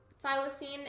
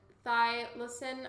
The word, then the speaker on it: thylacine: so thank you um thylacine and thy listen are both valid pronunciations as long as